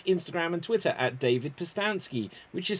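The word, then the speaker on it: Pustansky: me on facebook instagram and twitter at david postansky which is spelt p-u-s-t-a-n-s-k-y can also get a copy of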